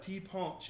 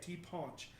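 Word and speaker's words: ti' punch: So there is the national drink of Martinique is called the tea punch, and it's tea punch, but tea punch is how they say it, tea punch.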